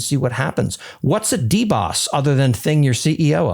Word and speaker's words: DBOS: It is DBOS and I am pronouncing that as deboss correctly.